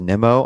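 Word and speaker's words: Nimmo: from going you know it is pronounced Nemo I know but I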